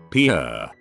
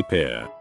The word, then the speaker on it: Pierre: capital of south dakota pierre wrong but she kept saying pierre two syllables like the french name and he said it was pier one syllable like what you fish off